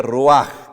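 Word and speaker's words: רוח: de vida es rúa se escribe roig se pronuncia rúa que es la misma palabra para espíritu el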